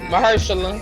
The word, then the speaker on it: Mahershala: knew Blade was Mahershala Ali at the end of Right. Eternals. Like that nigga's Ali. voice. Mahershala.